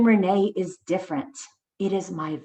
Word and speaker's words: Rene: mom and dad but renee is renee in english and spanish sometimes people pronounce my